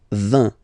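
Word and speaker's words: vingt: And the last one, so this G letter is here, but you don't pronounce it. Okay, and then final T doesn't exist phonetically either, so basically you will only need to pronounce these 3 letters. So you've got V, V, and then you've got nasal, IN, 1. 20.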